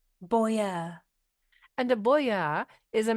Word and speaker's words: boyar: our tutor word of the Week Philadelphia it is spelled b o y a r Boer and a Boer is a member of the